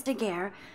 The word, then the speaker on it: Daguerre: process invented by a French painter named Louis Daguerre around 80 I pronounced that right somebody has been reading as